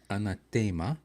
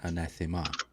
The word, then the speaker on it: anathema: The Latin pronunciation varied, but the most common you would hear in classical Latin is anathema, but in English it's always been anathema. So classical Latin emphasizes the 3rd syllable, and commonly emphasize the 2nd syllable.